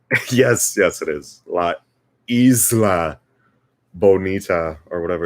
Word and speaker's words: isla: bonita it's so it's now i'm not a hundred percent sure but i'm pretty sure it's supposed to be la ila right like isla is that like something they